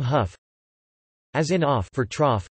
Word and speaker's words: Hough: As in cuff for tough, rough, enough, and the name huff.